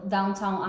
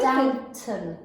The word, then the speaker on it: Downton: What about that TV show, Downtown Abbey? That's really Downton. Downton. Oh.